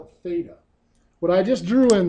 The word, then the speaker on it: theta: That is the Greek letter pronounced theta.